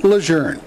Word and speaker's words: Lejeune: just ordinary people why you say the name lour the history the ethology of the word started